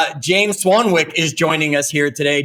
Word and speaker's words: Swanwick: I didn't confirm the pronunciation of his last name, so I'm really going to hope it sounds just like it's spelled. As we bring our guest to the call, James Swanwick is joining us here today.